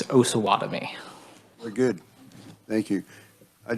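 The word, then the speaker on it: Osawatomie: So the proper pronunciation, my understanding, is Osawatomi.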